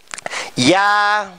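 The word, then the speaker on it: ㅑ: Chà, các bạn nghe phát âm của thầy trước đi. Nhá. Ya.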